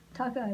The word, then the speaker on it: Tokaj: Tokaj like Hawkeye Pierce. Like in Hawkeye Welsh. Pierce.